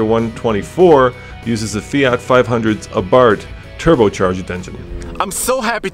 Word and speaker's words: Abarth: and we have a 2017 Fiat 124 Spider aart is that how you say aart that's how you say it okay the big